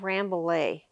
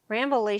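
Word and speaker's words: Rambouillet: rambley over and and people would say that i'm saying it wrong but that's the way that way um people in wyoming say the french name um the sheep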